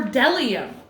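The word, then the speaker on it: bdellium: B is for delium. We doubt anyone knows what delium is, but it's the only word dumb enough to begin with a silent B.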